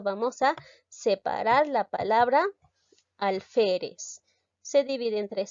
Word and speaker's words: alférez: en este caso vamos a separar la palabra alférez se divide en tres sílabas pero debo tener bastante cuidado si en